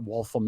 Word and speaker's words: Waltham: He goes, I know what Waltham is. I said, oh, it's actually pronounced Waltham.